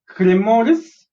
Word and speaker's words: cremoris: Second step, some colors and microbes like Lactobacillus lactis, Lactobacillus cremoris. How do you pronounce this? C-R-E-S, cre, M-O-S, mo, R-I-S, ris, cremoris.